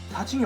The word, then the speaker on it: 사: 지금 그림에서 보시는 것처럼 옆으로 표시되어 있거나 오른쪽에는 사시미 없죠 예 오 칭 이 사진이에요 그 침을